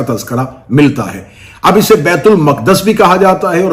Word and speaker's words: بیت المقدس: اسے بیت المقدس کہا۔ چلیں، بیت المقدس اس کا اصل تلفظ ہے جس کے تحت اس لفظ کو بولا جا سکتا ہے۔ بیت المقدس مسلمانوں کا